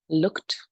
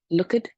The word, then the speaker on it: looked: for them to pronounce because they pronounce all the letters. For example, looked, watched, worked. This is what I usually hear. Look it, work it, watch it.